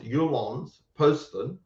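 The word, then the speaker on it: Jyllands-Posten: you j y l l a n DS pronounced yulon Poston hypen Poston Muhammad cartoons um and the author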